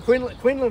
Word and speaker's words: Quinlan: Is that how you pronounce his name? Jason Quinlan.